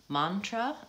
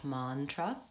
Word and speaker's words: mantra: it's two syllables bio mantra the ah has the AH vowel like not and hot mantra happiness careless the less